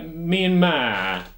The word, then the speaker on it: Myanmar: people say mime some people say uh myanmar emphasis on the man as well so burma